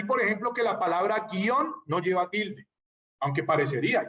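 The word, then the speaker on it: guion: De ahí, por ejemplo, que la palabra guión no lleva tilde. Aunque parecería, hay que ponerle la tilde en la O, no. Porque guión se pronuncia en una sola sílaba.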